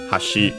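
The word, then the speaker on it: 橋: that one is the kanzi for hashi for bridge which is the one uh we have here accent on the last syllable.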